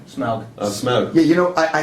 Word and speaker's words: Smaug: Well, Smug. Smaug. Smug. Yeah, you know, I had it down actually, the pronunciation, and then when you're rushing, you just forget.